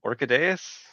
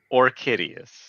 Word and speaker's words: Orchideus: Orchideus. Orchideus. Got it. Rhymes with hideous.